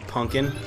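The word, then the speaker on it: Punk'n: I'm pretty sure it's actually year-round they sell this stuff, but it's actually just called Punkin. It's spelled P-U-N-K apostrophe-N.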